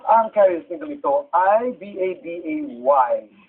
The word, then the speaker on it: Babay: At ang carrier single nito ay B-A-B-A-Y. Na kung bibigkasin po ay babay.